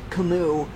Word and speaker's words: Camus: Apparently Camus is pronounced Camus. No. Oh. No, it's Camus. So it's a silent S.